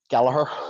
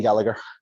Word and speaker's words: Gallagher: It is spelt like the Gallagher brothers of Oasis, but it is pronounced, importantly, Gallagher. There's no, the second G is silent.